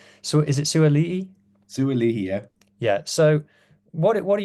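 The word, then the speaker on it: Sua'ali'i: Sualihi, yeah.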